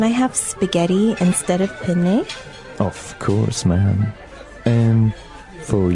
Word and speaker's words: penne: All right, so how do you pronounce, we said penne in English, in American English, but in proper Italian it would be? Penne. Penne. So you double pronounce the consonant.